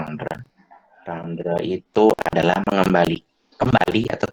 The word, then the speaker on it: rendre: Terus kalau rendre, ya ini bacanya rendre.